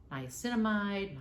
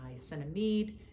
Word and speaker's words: niacinamide: b3 which is also niacinamide niacinamide they can be pronounced both ways but what we're doing